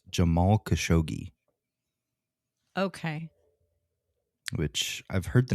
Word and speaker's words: Jamal Khashoggi: Now, I've heard this name pronounced a couple different ways, but the most common I've heard is Jamal Khashoggi.